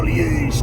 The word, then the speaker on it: Liège: tu es aller en liège toi oui parce que Liège ça se prononce Liège comme ça un trs profond euh parce que li